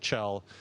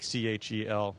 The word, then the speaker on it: Kjell: My first name is Kjell. It's Swedish, so it's spelled a little differently, but Kjell, like Chel, and then last name Lindgren.